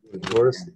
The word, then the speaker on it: Taurus: Taurus then? Okay. Taurus. Okay. Horus that rounds rhymes with Horus.